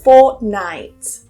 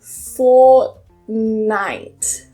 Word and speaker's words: fortnight: Number 3 is fortnight. Fortnight. I don't pronounce that T. I hold it, fort, and then I release it on the N.